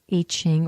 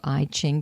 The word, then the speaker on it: I Ching: many reasons, once again into the I Ching or I Ching, depending on which part of the country you're from and how you like to hear it pronounced.